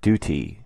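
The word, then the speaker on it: doot: spelling for d-o-o-t calls d-o-o-t is pronounced Duty so the acrostic reads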